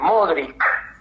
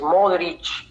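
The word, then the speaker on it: Modrić: alto perfil muy mediático que diga modric y pronuncie con la c no lo hacen con los acentos balcánicos la se no es final no ese es modric y así como es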